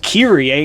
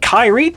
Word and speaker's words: Kyrie: yes the fact that her name is pronounced kiri a instead of kyrie does bother me to